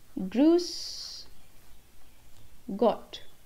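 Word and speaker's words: Grüß Gott: the word is service the next word is Bruce got Bruce got which again means hello and this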